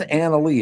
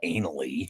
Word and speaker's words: Annalie: It's Annalie. It's not anally.